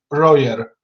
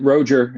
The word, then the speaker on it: Roger: In Polish, it is Royer. Yeah, Roger is how I pronounce it.